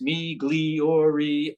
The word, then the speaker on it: Migliori: it so good it's migliori Amici and Company so if you take the eyes in there and you pronounce them like long ease me gleor Amici and Company it's Italian